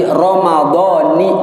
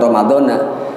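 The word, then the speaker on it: رمضان: ghadin an adai fardhi syahri ramadhani, bukan ramadhana. Ramadan itu ghairu munsharif, tetapi dirangkaikan dengan ramadhani hadhihi as-sanati, disambung dengan kata lain sehingga ramadhani bacanya. Ramadhana dari segi nahwu salah ya, ramadhani hadhihi as-sanati lillahi ta'ala.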